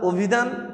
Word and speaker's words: অভিধান: তোমরা বাংলা অভিধান দেখেছো, পড়েছো। আচ্ছা, আমরা যখন অভিধান উচ্চারণ করি তখন উচ্চারণ করি কি দিয়ে, ও দিয়ে, কিন্তু লেখি কি দিয়ে, স্বরে অ দিয়ে।